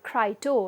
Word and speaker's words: Crito: The other early dialogue is what we call as Crito, and Crito or Crito as it is often pronounced is a conversation in